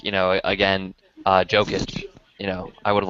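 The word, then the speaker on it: Jokić: Like, you know, again, Jokic. You know, I would have liked to see him go. Wow. By the way, I'm not. It's Jokic, just as FYI. I know. I just like calling him Jokic.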